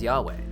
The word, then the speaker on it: Yahweh: You see, in the Bible, God is often referred to by his personal name written with the letters YHWH, often pronounced today as Yahweh.